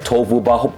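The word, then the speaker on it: Tohuwabohu: So I said it right, Tohu Vabohu.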